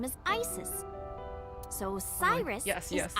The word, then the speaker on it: Isis: About Aset. Horus's mom is named Yeah. Isis. 6 years ago. Horus's mom is named But Isis. in ancient Egyptian, it's pronounced closer to Iset or Aset.